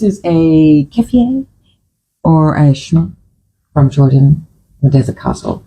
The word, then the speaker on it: shemagh: This is what's called a keffiyeh, or I think in Jordan, I think they call it a shmah, and it's spelt S-H-E-M-A-G-H, shmah.